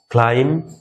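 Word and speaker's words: climb: তাহলে বির উচ্চারণটা কিন্তু এখানে আসতেছে না, অর্থাৎ এমবি যদি শেষে থাকে তাহলে বিটা সাইলেন্ট হয়ে যাবে। কম, ক্লাইম, ল্যাম, এভাবে আমরা বির উচ্চারণ শেষে আর আমরা করব না।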